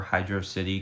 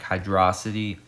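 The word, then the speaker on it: Hydrocity: how to pronounce it I prefer Hydro City because that's how it should be pronounced I mean like hydrosity really why does that make sense um but yeah I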